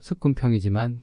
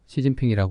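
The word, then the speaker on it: 習近平: 여호수와 거의 같은 말입니다 한국 발음으로 습근평이지만 중국식 발음으로 시진핑이 하지요 과거 헬라인들이 하였으면 좋았을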